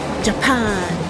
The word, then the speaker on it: Japan: Japon tu dis c'est Japan oui sauf que le j en allemand se prononce ye ye mais comme ya ce qui veut dire